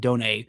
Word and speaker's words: Dunn: Carlos Dunn, spelled Dunn, I believe pronounced Done, a shortstop / center fielder from the Dominican Republic.